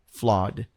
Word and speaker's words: flawed: know flaw flaw but the pronunciation of flaw is interesting because you don't say the Ed so much it's like flaw flawed and it means uh